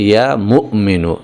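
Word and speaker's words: يا مؤمن: কিন্তু আসল উচ্চারণটা হচ্ছে ইয়া মুমিনু। এখানে মিমের পরে একটা হামজা রয়েছে। একটুখানি ধাক্কা হবে এভাবে।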